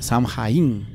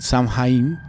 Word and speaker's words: Samhain: O sea, Samhain. Así se escribe, Samhain.